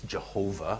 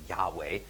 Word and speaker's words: YHWH: Some people pronounce this Jehovah, other people pronounce it Yahweh.